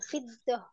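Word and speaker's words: فِضَّة: Wal fiddah. Kayaknya Ayo Bu, tasdid apa enggak Bu? nggak tahu Ustaz. Tasdid Bu. Jadi bacanya apa? Fiddah.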